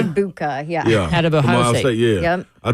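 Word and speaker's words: Egbuka: Ibuka, yeah.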